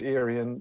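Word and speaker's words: Urien: Because if it is, the U is supposed to pronounce like an I. That's a capital I, by the way, so it's Irian, weird bloody Cumbric language.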